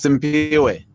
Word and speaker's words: Simpiwe: How about am I saying this right? Simfiwe? I should be knowing your name by now. Help me out by pronouncing it for me. Is Simfiwe? Yes, Simpiwe. Simfiwe, yes.